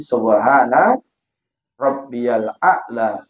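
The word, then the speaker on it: سبحان ربي الأعلى: Kemudian Pak, di sujud yang terakhir, kita boleh baca doa lain selain subhana rabbiyal a'la wa bihamdi. Jangan robbiyal bacanya, rob, nah, dibaca disambung gitu.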